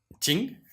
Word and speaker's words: Qing: Ching, ¿Qing? ¿Cómo se pronuncia?